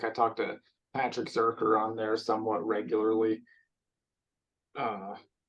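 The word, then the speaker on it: Zircher: he put it in his bio because I was saying Zercher the whole time, but then his bio says rhymes with worker.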